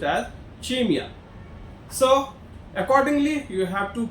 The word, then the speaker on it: CIMEA: It's CIMEA, but it is pronounced as CIMEA.